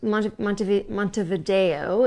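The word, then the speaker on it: Montevideo: was the capital of Uruguay um Uruguay and mont mont mont Vio is how they say it and that was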